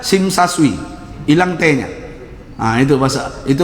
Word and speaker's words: Tsim Sha Tsui: dewan site namanya masjidnya masjid tsim Sha Tsui nama Mesir Mbak Pesing kesah sesuai bacanya SIM Saswi hilang tv-nya itu bahasa